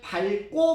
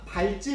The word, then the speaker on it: 밟다: 밟다는 자음이 왔을 때는 뭐로 발음해요? 밥으로.